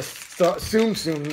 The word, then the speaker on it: Tsum Tsum: Oh, we can get the Tsum Tsum. That's how they pronounce it.